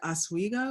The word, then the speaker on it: Oswego: which is a play on Lake Oswego. Is that how you pronounce the lake?